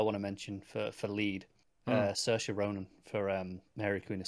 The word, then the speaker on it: Saoirse: Saoirse rhymes with inertia.